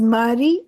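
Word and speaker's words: Marie: यह वहां पर पैदा हुई थी और इनका नाम था इट्स नॉट मारिया। इट्स मैरी स्क्लोविस्का।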